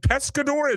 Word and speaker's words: Pescador: Is it Pescador? Did I say it correctly, Harry? You absolutely did. Pescador is my feature debut.